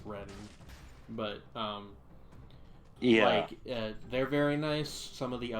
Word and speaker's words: Reading: They don't pronounce the G in Reading, by the way. It's Reading, but they're very nice.